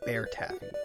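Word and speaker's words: Baertaffy: mostly streams by the name of bear tag that is spelled b a e r t a f f y if you do not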